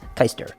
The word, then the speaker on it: Keister: My last name is spelled Keister, so it's Keister. Yeah. But the proper pronunciation is Keister. Where's it from? It's German, Okay. actually. I myself am not German. My father is. And yeah, no, he pronounces it Keister.